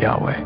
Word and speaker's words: Yahweh: person living within us pronounced y hey V he Yahweh a name often considered